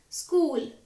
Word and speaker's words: school: Here H is silent, so it will be pronounced as school.